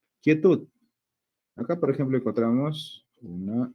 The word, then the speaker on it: quietud: Pero ya sabemos que el sonido de la U, no digo kie, no digo cue, cuei, ¿no? Se dice kie, el sonido de la U no se pronuncia.